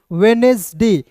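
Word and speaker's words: Wednesday: तो यहां देखिएगा डीजी यानी कि डीजी या डी जो है कुछ शब्दों में साइलेंट होता है। देखिए यहां पे डी है ना तो इसे पढ़ेंगे। देखिए वेडनेसडे देखिए वेडनेसडे।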